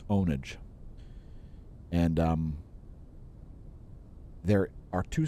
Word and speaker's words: pwnage: it before it's spelled p-w-n-a-g-e do not say pwn it is not pwn eugene like i is a gamer so it's not pwnage it's ownage and um there are